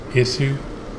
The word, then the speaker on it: Isu: he told me that their name is pronounced ningen i think it's pronounced issue and somebody told me